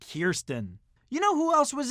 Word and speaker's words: Kirsten: Dunst from interview with the vampire yes it's pronounced Kirsten you know who else was in an interview